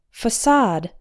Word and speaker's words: facade: sounds like fun and CA de sounds like sod that a is like the a in wash it's an ah sound the stress is on the second syllable facade number seven bouquet a